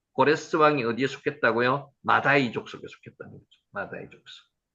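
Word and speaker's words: מָדַי: 자, 세 번째가 마대입니다. 마다이라고 있습니다. 마다이 한번 해보세요.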